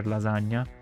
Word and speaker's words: lasagna: Personally, pizza is my favorite, one of my favorite foods, even though I prefer lasagna, which is pronounced lasagna, not lasagna.